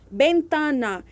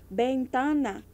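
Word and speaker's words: ventana: mesmo sonzinho do B bentana que é janela se escrive com v v e n t a n a bentana mas se pronuncia com som de b o v né em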